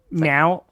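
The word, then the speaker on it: แมว: Um, and the word for cat is meow, except I don't think I pronounced it quite right. It sounds actually almost more like meow said by Thai.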